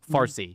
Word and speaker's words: Farsi: You don't have to be, okay, Parsi, or as it later was Farsi, Uh-huh. because the Arabs could not pronounce the P, so it became Farsi.